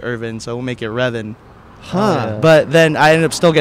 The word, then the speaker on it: Revin: So it's just Kevin, but you'll slap a little R instead of a K.